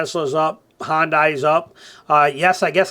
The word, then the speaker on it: Hyundai: how you say it said Americans call it Hyundai um and people over there go with it but it's actually hondai so haha take that